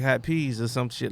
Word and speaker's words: Hot Peez: He was like, Hot Peas, like on the stove. You know what I'm saying? And I was like, oh shit. That is what my name sounds like. So, because I know how it's spelled, EEZ, you know, whatever.